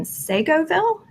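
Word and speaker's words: Seagoville: He and his wife are looking to build in Segoville. Am I pronouncing it? Segoville, yeah.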